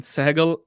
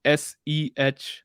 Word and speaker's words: Sehgal: then Sehgal, Sehgal, and then official. How do you pronounce it?